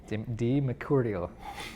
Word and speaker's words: DiMercurio: Did I say it right? Pugno. You said it in a very Italian way. We got a couple Italians here, don't we? Yeah. Yes, I had to say it the Italian way.